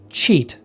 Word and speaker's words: cheat: However, when we say it, there's only one vowel sound. And that's why if we look at like a dictionary pronunciation key for the sound, we can see that there is only one vowel listed in it. Because again, the trailing A, that doesn't get pronounced in modern English.